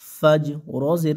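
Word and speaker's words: الفجر: জবর ফাজ ফাজিম জবর ফাজ রজের রি ফাজরি এখানে যদি আমরা থেমে যাই অক্ফ করি তাহলে ফাজ ফাজ রর উচ্চারণটা যেন শেষে আসে হ্যাঁ ফাজর তাহলে হিয়া হাত্তা মাতলাইল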